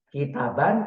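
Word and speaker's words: كتابًا: seperti itu pengucapannya kitabun kitaban kalau dia pakai fathah kemudian pakai Nun begitu kemudian kitabin dia pakai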